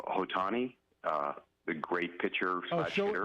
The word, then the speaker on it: Ohtani: Hey, I heard your story about that phenomenal, I don't know how to pronounce his name, Ohtani, the great pitcher hitter. Shohei Ohtani, yeah.